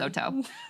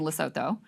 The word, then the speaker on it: Lesotho: Everyone's pronouncing Oh, Lesotho you don't say the TH, it's Something just like a that. T. Okay. I'm sorry, I didn't take the time Apologies, to learn. Lesotho.